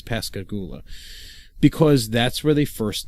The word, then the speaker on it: Pascagoula: I'm hoping pronouncing that right. I think it's Pascagoula, because that's where they first met and where they started seeing each other romantically.